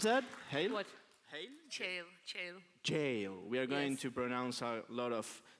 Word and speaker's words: Cheil: She's creative strategy from Cheil. How do you pronounce that? Cheil? What? Cheil? Cheil.